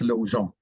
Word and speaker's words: Lausanne: O-N, om, is what is known as a nasal vowel. Part of the sound comes out through your nose. Really, it's Lausanne.